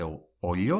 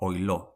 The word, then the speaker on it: oilo: say, never gerriya oilo: can be said oilo or ollo, never heard langile: we can say